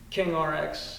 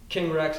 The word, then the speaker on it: King Rx: So to me, it was a little wordplay on King RX in terms of Saudi Arabia, king royalty and pharmacy, but also King Rex is the way that you would mispronounce it.